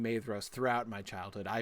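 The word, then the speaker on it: Maedhros: Like for instance, the ae vowel combination is pronounced like I. Um, so the eldest son of of of Feyenor in the Sylmerelion for instance, for instance, is Maidos.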